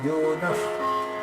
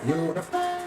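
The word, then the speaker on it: योनः: Varenyam Bhargo Devasya Dhimahi Dhiyo Yonaf. That F sound is there. Yonaf Prachodayate Om.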